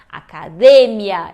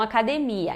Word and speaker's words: academia: E a gente vê ali daí que o certo é acadêmia e não academia.